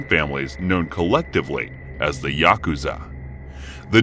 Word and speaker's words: Yakuza: cards to draw are eight nine and three pronounce yaku Za in Japanese the implication being that